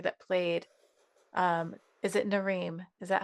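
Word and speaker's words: Narim: Like for example, the reason I'm mentioning that is I was thinking of the actor that played um is it Nareem? Is that how I pronounce it?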